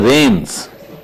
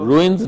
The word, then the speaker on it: reins: Tata took over the reins of Tata and Took over the reins. R-E-I-N-S is reins, as is R-A-I-N. The pronunciation is reins. took over the reins of Ruins, nahi, reins. over the reins.